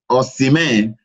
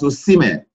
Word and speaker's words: Osimhen: People used to pronounce that name as Osimhen. We are innocents. That name is Osimhen. Osimhen. My own, Osimhen. So Osimhen, I think we should correct them that. Yeah. It's not Osimhen, it's Osimhen.